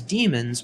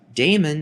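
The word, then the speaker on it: daemon: AR aric spelling here with an AE in place of the e in the modern spelling however the pronunciation is the same Damon is incorrect even though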